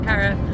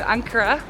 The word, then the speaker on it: Ankara: to go until we get to is it ankara or ankara ankara tomorrow okay hopefully everything is in that city right yeah so i've got only 24 hours in cara so uh looking forward to uh checking it